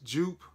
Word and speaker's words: Joop: all right you ready I don't know if you pronounce this Joop or OOP whatever but it is Joop I said you soju